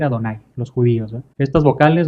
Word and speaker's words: Jehová: Literalmente pues dice Yevá, pero ese Yevá no se pronuncia Yevá, sino que son vocales nada más que le pusieron ahí para que no se les olvide que deben decir Adonai, los judíos, ¿eh?